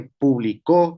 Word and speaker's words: publicó: Por ejemplo, público con acento en la U. es público. Eh, a diferencia de publicó con acento en la o es un pequeño trazo